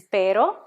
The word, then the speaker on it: pero: This word means but. Okay? This is pero, and this one is perro. Pero, perro.